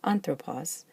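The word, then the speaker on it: ἄνθρωπος: in the last syllable, so it's pronounced anthropos, and it has an acute on the first syllable, which happens to be the antepenult, the third to last, and that's where it likes to have that accent.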